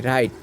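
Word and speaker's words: right: টি এইট হয়েছে এরপরে আর আই জিএস টি রাইট এখানেও জি এইচ এর উচ্চারণ হয়নি এরপরে হাই এইচ আই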